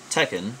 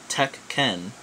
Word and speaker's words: Tekken: of the wood uh same thing with like the Tekken series it's Tekken like technically if you want to be if you if you know stuff like I do is Tech Ken you know like Tech can um but it is